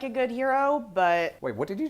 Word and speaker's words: gyro: just call it a hero a hero well sure that's that's what it is what's heroic about it no g-y-r-o a hero that's the word that everyone thinks is pronounced gyro well the thing that